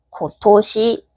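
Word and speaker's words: 今年: 같이 우리가 금일이라고 써 놓고 콘 모시기라고 읽지 않고 큐라고 읽었듯이 이번 년는 얘는 그냥 외워야 돼요. 고토시. 물론 나중으로 가시면은 왜 고토시인지 한자로 아실 테지만 그냥 우린 일단 외워 줍시다. 고토시.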